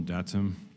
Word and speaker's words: DATUM: Uh, you can pronounce it DATIM or DATM. Um, whatever you prefer.